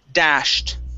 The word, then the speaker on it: dashed: Okay, make sure to pronounce the T at the end. Dashed. Okay, dashed. Okay, instead of dashed, okay, it's an SH sound. Dash, dashed. Dash. Okay, now add the T.